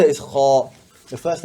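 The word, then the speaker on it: خ: The first letter is kha. The first letter is kha. This one, a lot of people make mistake. They say it like ha.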